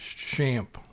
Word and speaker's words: XAMPP: to develop PHP websites and the cor correct pronunciation for it is sham and we have a download link below and it takes us to Apache friends and they have a video here shamp is the most popular PHP development environment for